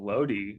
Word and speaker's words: Lodi: You got the Battle of Lodi or Lodi, depending on, I've heard it pronounced both ways. Again, I'm not gonna the go with French Creedence for it. Clearwater Revival. It's Lodi.